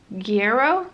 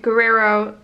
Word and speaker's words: Guerrero: to mind was Nicole Hierro that's not right how do you say her name Gero Gero Nicole Garrow Guerrero so Nicole get Guerrero so right Guerrero Guerrero Hierro so one